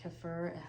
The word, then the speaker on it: kefir: if you like to do kefir or kefir, however you choose to pronounce it, or other fermented